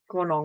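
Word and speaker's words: Goornong: Gornong.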